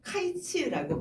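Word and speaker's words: קַיִץ: 여름이 히브리어로는 카이츠라고 발음합니다.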